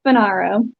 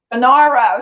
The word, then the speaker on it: Funaro: to pronounce them how is your last name pronounced it's uh banaro banaro see i did say it wrong okay fernaro